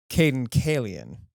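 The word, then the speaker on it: Cayden Cailean: pronouncing Carabine? Caden Kalian.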